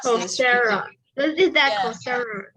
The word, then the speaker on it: Coursera: And I also signed up on Coursera. No, so not SEA, SERA. So you're right. I don't know how to pronounce this. Coursera.